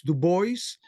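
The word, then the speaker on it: Du Bois: the boys I think I'm sorry I think we should pronounce du boys yes and also Al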